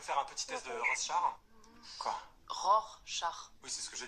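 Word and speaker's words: Rorschach: un petit test de RO R char oui c'est ce que j'ai dit non vous avez dit rose char je veux pas le savoir mais on dit ROR char c'est un peu compliqué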